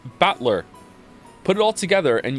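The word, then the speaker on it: Battler: the characters for fight and person and it's pronounced batler put it all together and you've got usara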